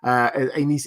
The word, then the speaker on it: Aenys: letter suggest that Aenys, I got told very clearly by a lot of people that my initial pronunciation of Aenys was not helpful to them, so that's where I'm going with now. Aenys is Dornish, from what I can understand.